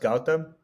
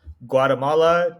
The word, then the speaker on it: Gautam: So my name is pronounced Gautam. Yeah. In the non-Indian American culture, I get a very different set of versions of it. I go from Guatemala to Guatem to Gotham, like Gotham City Batman, to everything.